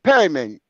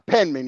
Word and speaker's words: Penman: No, you called my name wrong. You said Perryman. I'm not Perryman.